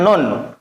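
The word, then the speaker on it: ن: Maka cara bacanya dipanjangkan, bukan na, bukan bacanya nggak seperti itu ya. Contoh berikut, na tidak, tapi dibaca hurufnya. Dan harus panjang 3 alif.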